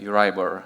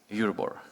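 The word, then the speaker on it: Euribor: always irked uribor europe americans say uriber and british say euroboard so that's just explanation why we say the same thing differently markets expect euroboard to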